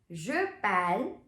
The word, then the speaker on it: parle: Now, keep in mind that the pronunciation of pal remains the same for je, tu, il, elle, on, and il, elle. Have a look. Je pal, tu pal, il, elle, on pal, il, elle, pal. It's just with nous and vous that the pronunciation is changing.